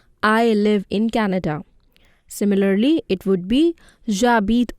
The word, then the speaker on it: Canada: It remains the same, but the pronunciation changes. Listen to how I am pronouncing it. Canada.